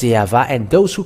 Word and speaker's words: Yahvah: how they read it, not W or Wa or Wu, because some people say the Wu, and that where the Yahoo comes from. They changed the Vav into U, and you were not washed away from your sin if you were doing so. And there is no V, W, and it changed to U. It is always V. And that is Yahvah, and those who call